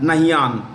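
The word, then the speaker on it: Nahyan: name is the family Sur name is Al nahan l a l Lun nahan n a h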